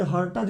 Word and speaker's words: Hertz: आप बोले कि इतना हर्ट्ज से, आपको हिंदी में हर्टज भी कुछ लोग पढ़ते हैं, बट HERTZ होता है, तो इंग्लिश में हम इसको हर्ट्ज पढ़ते हैं।